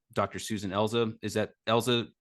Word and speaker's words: Elza: big one um Dr Susan elza is that Elsa correct yeah pronunciation okay um I had I thought I'd